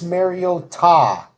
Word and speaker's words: Mariota: On Sunday Night Football, fantasy player of the game, Marcus Mariota. I wanted you to make sure that we we pronounce this correctly.